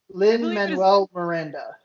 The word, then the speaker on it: Lin-Manuel Miranda: Lin-Manuel Miranda.